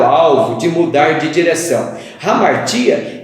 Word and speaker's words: hamartia: Eu escrevo hamartia com H, como você pode ver no vídeo, mas a pronúncia também é hamartia, que é sair da rota.